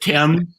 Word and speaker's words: Thames: You wild man, our Viking, occupying the, how do you pronounce it, Thames? The Thames, The yes.